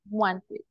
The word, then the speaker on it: wanted: Wanted. That is the pronunciation. In this case, we pronounce the ED, right? Wanted.